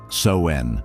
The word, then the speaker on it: Samhain: Finally, our journey brings us to Samhain, pronounced Soen, celebrated on the 31st of October.